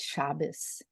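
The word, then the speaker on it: שבת: que nazim para eles a letra TAF é pronunciada como se fosse um samer eles não vão falar Shabat eles vão falar shabes o TAF vira samer e isso eu aprendi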